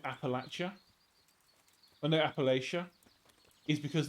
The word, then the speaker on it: Appalachia: Do I go Appalachia or Appalachia? So Appalachia. Yeah, I think from what mainly it's from Wendigoon videos that I found this out. Appalachia. So that's a different way of saying it than the other two. So there's three ways of saying it that equally would piss off Americans depending on which one I say.